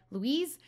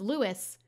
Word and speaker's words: Lois: arm around Luke so somebody told me that it's Louie's like they wrote it out phonetically so that I knew how to say and they said that it said Louise but then when I did that that last episode everyone was like no it's Lois like how I had